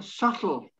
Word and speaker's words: subtle: And then the next one, subtle, silent B.